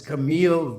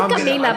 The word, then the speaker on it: Camille: I will say I looked up, it's Camille Vasquez. I want to make sure I said it right, because I was thinking Camila, but I know it's